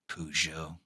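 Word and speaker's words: Peugeot: Uh, that's not how that's that's that's not how you that's not how you pronounce it. Pujo.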